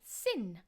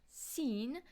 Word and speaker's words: sin: sin will be sin, not seen.